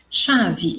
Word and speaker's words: chave: Chave, eu tenho o som do X e não do CH.